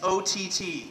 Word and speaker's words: Ott: I just reiterate, yes, it's O-T-T. 3 letters, rhymes with Scott, or pot, snot, twat, kumquat, paraquat, 16 shells from a 30-06, Ott man.